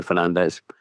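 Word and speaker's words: Fernandes: Well, I saw a quote about Bruno Fernand Fernandez where he said because people in Britain pronounce his name so disgustingly badly when they're trying to do the J sound that he'd rather just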